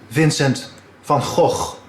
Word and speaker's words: Vincent van Gogh: The correct Dutch pronunciation is Vincent van Gogh.